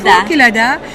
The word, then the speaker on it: Kelada: C'est comme ça se prononce? Exact, Kelada.